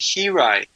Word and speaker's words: hiraeth: this CD yeah it's you pronounce it heite heite okay heite and it's a it's